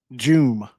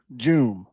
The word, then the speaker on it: Dioum: So, this kid's name is pronounced Aliu, Aliu, and then the last name is pronounced Joom. So, Aliu Joom, right?